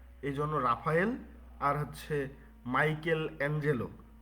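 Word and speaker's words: Michelangelo: এজন্য রাফায়েল আর হচ্ছে মাইকেল এঞ্জেলো। নামটা আমরা দুইবারে উচ্চারণ করতেছি। কিন্তু এটা পুরোটাই একসাথে লিখা। বইয়ের মধ্যে দেখবেন মাইকেল এঞ্জেলো। এম আই সিএইচই এল এ এনজি এলও পুরোটাই একসাথে। মাইকেল এঞ্জেলো।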